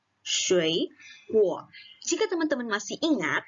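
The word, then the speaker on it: 水果: 水果. Jika teman-teman masih ingat, kalau misalnya nada 3, ketemu nada 3, maka nada depannya menjadi nada 2. Makanya kita bacanya adalah 水果.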